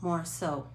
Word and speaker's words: Morisot: e m o r i s o t more so french did everybody get that um so now